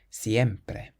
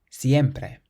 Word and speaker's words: siempre: Then we have another word that ends in a vowel, so we can stress the syllable before last. Siempre. Siempre.